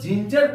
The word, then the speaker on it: Ginger: आई अगर हो, जैसे GINGER, इसको हम लोग जिंजर पढ़ेंगे क्योंकि जी के बाद यहां पर आई आया है तो जी का उच्चारण जौ के समान होगा। जिंजर का अर्थ होता है अदरक।